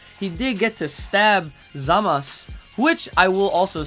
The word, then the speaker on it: Zamasu: up being zamas because normally in Japanese words the U at the end of the word is silent so you never really